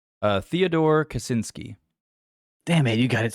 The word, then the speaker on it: Kaczynski: try to pronounce this guy's last name. Theodore Kaczynski.